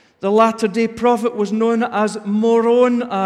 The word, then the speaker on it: Moroni: The Latter-day prophet was known as Moroni. It's spelled M-O-R-O-N, Moron, but with an I on the end.